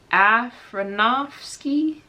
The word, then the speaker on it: Aronofsky: I know how to pronounce this. Aronofsky?